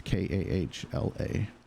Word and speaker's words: Kala: And maybe that's Kala. I'm not real sure how to pronounce it. It's Kahla.